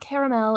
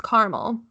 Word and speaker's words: Carmel: It's not caramel, it's Carmel.